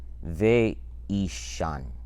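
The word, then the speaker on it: ואישן: But it's pronounced here ve'ishan.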